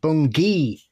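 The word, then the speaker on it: Bungay: Okay, so Bungie had me howling like the black shook itself because it's pronounced bunggeee with a hard G.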